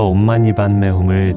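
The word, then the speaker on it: ॐ मणिपद्मे हूँ: 먼저 옴마니반메훔을 천천히 한번 읽어볼게요. 옴, 마니, 반메, 훔. 6글자죠. 옴, 마니, 반메, 훔. 이 6글자는 산스크리트어예요. 인도의 아주 오래된 말이에요. 한글로 쓰면 옴마니반메훔이지만 원래 발음은 옴마니파드메훔이에요.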